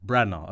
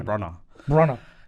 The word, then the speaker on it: Branagh: Branagh. Okay, I was going to say Branagh.